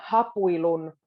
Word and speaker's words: hapuilun: Now, when a word starts with an H in Finnish, you can put a little emphasis on it. Hapuilun. But it's quite a soft, it's not too strong. Hapuilun.